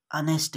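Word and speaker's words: honest: सी इज अनेस्ट girl, वह एक ईमानदार लड़की है। अब इसमें क्या त्रुटि है, देखिए यच साइलेंट होता है, इसके पहले आपको ए नहीं लगाना पड़ता, एन लगाएंगे, सी इज एन अनेस्ट गर्ल हो जाना चाहिए।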